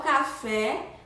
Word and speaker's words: café: Então, café, a sílaba tônica é fé, com som aberto.